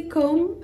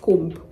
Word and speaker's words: comb: and easier to pronounce so say come and not comp comment not combin hey